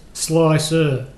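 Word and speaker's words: Slic3r: R slick 3 R which is pronounced slicer you know that's the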